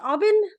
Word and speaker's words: Aubin: Is it pronounced Aubin? It is pronounced Aubin.